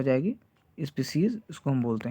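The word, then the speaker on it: species: तो ये ध्यान रखिएगा, पुरानी स्पीसीज, यहाँ पे स्पीसीज की डेफिनेशन गलत, मतलब स्पेलिंग गलत है, तो वो क्या हो जाएगी? स्पीसीज, इसको हम बोलते हैं।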